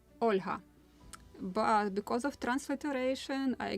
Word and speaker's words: Olha: Almost like Ola, but Olha. Different pronunciation and softer end of the name.